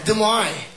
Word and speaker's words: Des Moines: Oh, with a silent S. Des Moines.